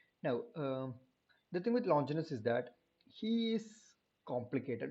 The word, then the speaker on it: Longinus: quintillion and moving on to longiness and it's longinus actually it's not anything else apparently it's pronounced longinus okay when we talk about longinus the thing